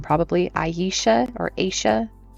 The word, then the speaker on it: Aisha: Aisha or Aisha. I think it's Aisha because it's spelled A I S H A.